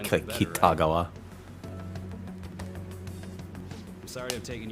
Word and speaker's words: Kitagawa: That is not how you pronounce that. Kitagawa, not Kitagawa.